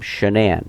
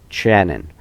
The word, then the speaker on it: Shanann: problems he said that she pronounced her name shanan but her mom pronounced it Shannon Jeremy said that he